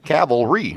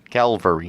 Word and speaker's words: cavalry: Cavalry. Right. Cavalry. Cavalry. Cavalry. Cavalry. Caval. Caval. Cavalry. Cavalry. Calvary. Yeah. But you say calvary when you say it. It's caval cavalry.